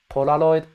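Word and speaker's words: ポラロイド: Um in terms as an English speaker, it's a soft L sound with a hint of a soft D. Camera polaroid camera. camera. I think if you lean on the soft L sound, don't worry about the D thing. It's good. Polaroid. But if you have a little hint of D, it's not a big deal either. I sometimes use one or the other.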